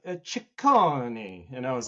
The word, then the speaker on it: Cicconi: I usually just go with Cicconi. It's like the easier way for people to pronounce it, and they get it right when I go with that.